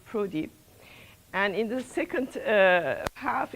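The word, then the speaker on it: ProDy: We pronounce it PRODI.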